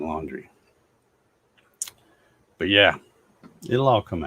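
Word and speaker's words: Laundrie: name the the suspect his last name is brian laundry when it's spelled l-a-u-n-d-r-i-e that's their that's their name laundry but yeah it'll all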